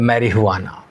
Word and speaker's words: marijuana: चलिए गांजा चरस हशीष मैरी हुआना मैंने पढ़ा मैरीाना ध्यान रखिएगा यह साउथ अमेरिकन जो प्रोनाउंसिएशन है उसमें ये जो जे लिखा हुआ है इसको ह प्रोनाउंस करना है तो मैरीाना भांग ये सब के